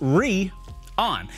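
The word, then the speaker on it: Rheon: to the atlas 4.0 is rion pronounced re on you know these little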